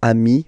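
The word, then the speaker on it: amis: in that case and as in most of the cases you won't pronounce it but you will have to put it okay and so you've got am okay and if you make the the so the link between the two you will get okayi so Ami remember doesn't change even if you you get to write the S then you don't pronounce it okay and now let's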